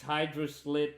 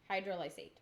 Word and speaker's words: hydrolysate: So you have 13 grams of isolate, 6 hydroslate, and 6 Maybe you can pronounce words. 6 grams of concentrate. Concentrate, isolate, and hydrolysate. Hydrolysate.